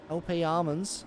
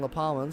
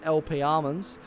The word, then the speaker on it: LP Almonds: I got in trouble for that a couple of weeks ago for saying La Palmans, so I believe it is LP Almonds, or Almonds as he